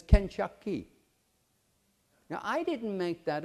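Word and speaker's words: 肯德基: this go figure this KFC is pronounced in Chinese as kenaki now I didn't make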